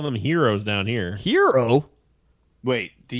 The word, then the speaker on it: gyro: it's like g-y-r-o yeah it's called heroes where you carve the the carve the meat off the thing i have never heard that i mean it's pronounced hero people give me you know people give me for saying gyro but the thing is